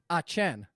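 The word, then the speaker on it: Etienne: clemson running back travis e t n how you pronounce his last name is just like the letters e dash t dash n etm that's dumb and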